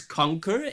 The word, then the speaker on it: conquer: Yes, conquer is stress on the first syllable, unstressed syllable, uh the C.